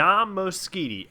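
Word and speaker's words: Moschitti: is hard to spell on Twitter it's d mositi d mositi and mositi is spelled MOS Chi TTI I also do the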